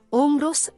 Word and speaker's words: Omero: Omero, in greco antico, Omros, pronuncia Omros, 8° avanti Cristo, è stato un cantore greco